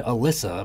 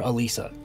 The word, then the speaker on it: Alisa: don't know ask them Alisa is not named Alysa apparent oh yeah that that's right this was I call her Alisa Alisa and I guess people call Alisa Alysa even though there isn't two s's and that's not how it's spelled but I